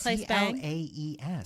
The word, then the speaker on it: Claes: It's Claes Bang.